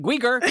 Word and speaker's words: Guigar: I'm Gweeger. That's the way you pronounce it when you pronounce mature.